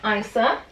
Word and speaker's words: Isa: So her name is pronounced Isa.